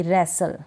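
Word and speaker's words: wrestle: भी ब्रिस्टल नहीं ब्रिसलबैक रस्टल नहीं पढ़ूंगी रेसल क्या पढ़ूंगी रेसल अब इसको फास्टनर जाएगा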